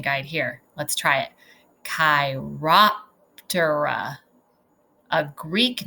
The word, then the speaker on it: Chiroptera: There's a pronunciation guide here. Let's try it. Chiroptera, a Greek name that means hand wing.